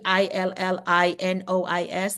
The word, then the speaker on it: Illinois: said Illinois might be e i l l i n o i s Illinois but that's silent s um Illinois Department of